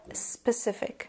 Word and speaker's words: specific: The C makes an S sound. Now, I know a lot of English language learners may mispronounce the I sound. It is not E, it's not spécifique.